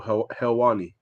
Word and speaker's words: Helwani: How do you pronounce his surname again? Ariel Helwani.